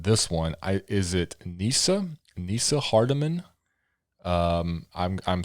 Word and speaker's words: Neasa: one i is it nissa nissa hardiman um i'm i'm sorry if it's wrong but it's a lady named nissa it's n-e-a-s-a i'm gonna say nisa nissa hardiman um the only